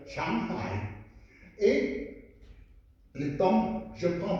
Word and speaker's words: Shanghai: Et tous les Français prononcent mal. Et ils prononcent Shanghai, Shanghai. C'est une liaison très dangereuse parce que Shang, c'est au-dessus. Hai, c'est l'océan supérieur. Shanghai.